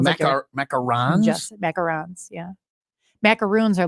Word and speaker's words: macaron: and all sorts of macarons I've been saying them wrong my whole life um and then they're not macaroons no they're been saying it wrong my life van Go's